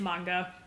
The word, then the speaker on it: manga: Yeah, most people pronounce it manga, though, or manga. I've heard all sorts of weird things. It's manga.